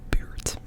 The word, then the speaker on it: buurt: So for that, I will do buurt. Buurt. So, the singular u, in this case, it sounds like bult, and then double, it sounds like buurt, buurt, buurt.